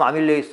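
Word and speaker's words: amylase: 아밀라제에 의해서 영어로는 발음하면 아밀레이스 하는데 엿당이 됩니다.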